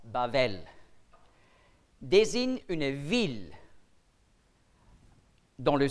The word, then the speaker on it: Babel: Babel on est brûle on prononce bavel désigne une ville dans